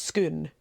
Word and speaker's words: Scone: flat and interesting cake that is not pronounced scone that's pronounced scoon just to confuse the visitors just because yeah I think yeah the kings of Scotland were crowned upon the stone of skoon which is currently in